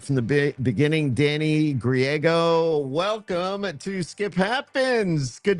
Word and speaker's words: Griego: Danny Griego. Close enough. Griego. Is that how you say it? Seriously? That's it, San Diego, Danny Griego. Yeah. Griego, I got it.